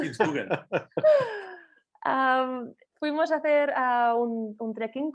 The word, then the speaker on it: Kitzbühel: Kitzbühel. Kitzbühel.